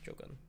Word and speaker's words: Jogun: Jogun. Like Shogun, but Joe.